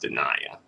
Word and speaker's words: De'Naia: into it though so his wife dania i believe is pronounced denia um so she is